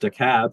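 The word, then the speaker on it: DeKalb: I learned in preparation for the meeting is pronounced DAB, not to be confused with the same spelling of a county in Illinois that's pronounced DALB.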